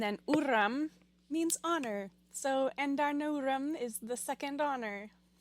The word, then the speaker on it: Andarna: Last chapter, we got Tairn's name, and this chapter, we finally get Andarna.